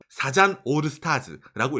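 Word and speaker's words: サザンオールスターズ: 바로 이 일본의 국민적 가수인 서전 올스타즈입니다. 사잔 올스타즈라고 읽습니다.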